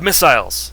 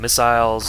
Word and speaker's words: missile: we have missiles and missiles are awesome I'm not going to say it like that I'm just going to say missile but they spell it like missile and that's how the British people say it so you know